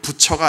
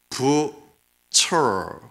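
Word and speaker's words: Bucer: 사실 발음을 잘해야 되는데 정확하게는 부처가 아니라 부처, 알발음이 있습니다.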